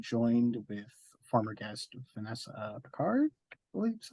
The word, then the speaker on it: Picard: This episode, I'm joined with former guest Vanessa Picard.